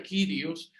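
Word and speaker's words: κύριος: Esa palabra Señor, aunque en nuestro mundo se utiliza de forma muy trivial, esa palabra en griego es kurios, se escribe kurios y se pronuncia kyrios.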